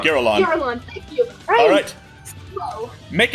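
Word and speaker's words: Girallon: I don't know how to pronounce it. Giralon. Giralon, thank you.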